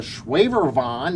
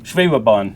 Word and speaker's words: Schwebebahn: James, it looks like you brought some amazing models, and the Schwaberwand, did I say it right? Schwebebahn.